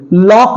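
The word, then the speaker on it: lock: हैं आइए देखते हैं पहला है हमारा लॉक एल ओ सी के लॉक ल सक नहीं बोलते लसक नहीं बोलते लॉक बोलते हैं इसमें के का साउंड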